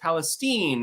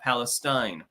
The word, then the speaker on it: Palestine: Ohio in year FYI Palestine is pronounced Palestine not Palestine yeah I bet everyone knows